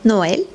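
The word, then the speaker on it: Noël: two sounds for example we have the word noel and with the sound we know that we pronounced it with two syllables no if we don't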